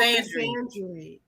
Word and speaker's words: misandry: How do you pronounce it? Oh, misandry.